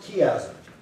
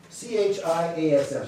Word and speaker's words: chiasm: It's, I'm going to pronounce it chiasm, C-H-I-A-S-M, just a cool word, chiasm.